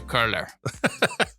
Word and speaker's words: Koehler: Yes, unless you want to pronounce it with the German umlaut. Say Koehler.